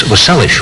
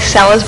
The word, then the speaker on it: Seles: But now, some of the people, you're from Yugoslavia originally, and some of the people were pronouncing your name, I guess, was Selic, right? Seles, yeah. Actually, it's always Seles, but some of them try with an S, and Yeah.